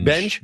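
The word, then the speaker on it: Benge: Benj.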